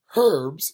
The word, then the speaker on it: herbs: In America, we do it right and just say herbs. But in British, because they're sticklers and they're weird, they pronounce the H. Herbs here, herbs there.